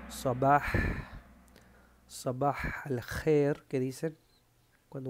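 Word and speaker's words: صباح: Eso se dice sabah.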